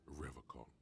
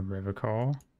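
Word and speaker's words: Revachol: for Revol he pronounces Revol with a hard K unlike other people serious question time this man is no innocent no one said a Riv call I like to pronounce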